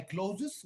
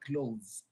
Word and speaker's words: clothes: Close is pronounced the same. The ES at the end of the word is not pronounced. So we don't say put on my clothes, we say put on my clothes.